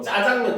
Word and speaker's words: 자장면: 우리가 많이 좋아하는 음식 자장면 그렇죠 원래 자장면은 표준 발음도 자장면이 알겠죠 근데 하도 사람들이 앞에 그 액센트를 줘서 짜장면 짜장면 하니까 현재는 이제 유일하게 어떻게 보면은 뭡니까 예외적으로 인정해 주고 있습니다 알겠습니까 자 그래서